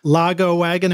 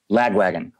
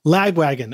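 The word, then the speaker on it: Lagwagon: guitar and punk Legends logo wagon am I pronouncing that right lag wagon lag wagon okay great producing and Engineering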